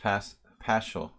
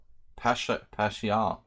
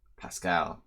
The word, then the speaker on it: Paschall: My name is hard to pronounce. There's many ways to do it. And as I said, like, I would go to restaurants and we would just say Pascal, you know. It's just easier that way. Paschall.